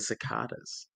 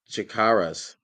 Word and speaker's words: cicadas: Boyd's skin to the cicadas? Like How it went into exactly? the Chikaras. Yo, Jesus B001. Is it Chikaras? Is that how you say it? No, it's cicadas. It's cicadas.